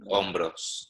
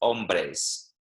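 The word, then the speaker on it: hombros: don't know yeah los nombres yeah so it's really important to be careful with that word because some people get confused and they say los hombres right which means men and of course you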